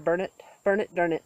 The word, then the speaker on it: Burnet: It's outside of Austin, near Burnett, or Burnett, that's how you say it.